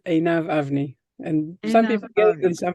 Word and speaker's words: Einav: a complicated one but the way I pronounce it is aav a and some people and